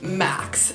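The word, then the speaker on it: Merckx: last name is pronounced max so I've been mispronouncing it but there's a CK X at the end just why are all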